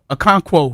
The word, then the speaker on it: Okonkwo: Okonkwo? Okonkwo, yeah.